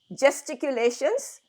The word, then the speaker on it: gesticulations: Now, the letter G can be pronounced as guh in some cases or juh in some cases. So, you need to know that. This is We pronounce it as juh.